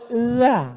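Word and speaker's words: ذ: Bahasa Arab itu ada huruf za, ada huruf ja, ada huruf d, ada huruf dza. Dza. Letakkan ujung lidah di atas gigi. Atas gigi atas.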